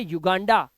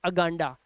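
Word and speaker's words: Uganda: बल्कि एक वाउल रखा है आए, इसलिए इसका उच्चारण अनियन नहीं, इसे पढ़ेंगे यूनियन। इसे पढ़ते हैं युगांडा, ना कि अगांडा।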